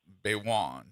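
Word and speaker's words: Gbaiwon: They tell me that the g is silent. So, I think it's Baywoan.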